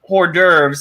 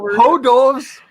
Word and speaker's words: hors d'oeuvres: Okay, more than hors d'oeuvres.